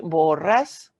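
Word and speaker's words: Borrás: i pronouncing that correctly borres yes the accent on the a she is an attorney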